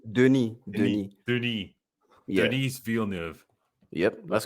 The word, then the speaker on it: Denis: That's how you pronounce it. Veal chop. Oh, okay. How do you say his first name? Denis. Denis.